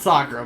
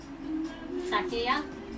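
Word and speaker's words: Sakuya: It's not Sakura, by the way. It's not Sakura? No, it isn't. Sakia?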